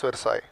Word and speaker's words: Versailles: Written as Versailles, pronounced as Versailles.